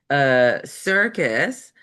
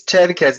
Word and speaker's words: Cherkes: We're going to start with Circus. Is that right? Please. It's Cherkes, but don't worry about it.